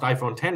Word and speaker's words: iPhone X: The only way to know if it's pronounced iPhone 10 is if you watch a video about it where someone specifically calls it that.